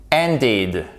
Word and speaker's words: ended: Lorsqu'il s'agit des verbes en ED, on peut avoir un de ou un te, d'accord? Ended, terminé, ok? Donc, pardon, quand on a un de ou un te, ça se prononce comme un I court.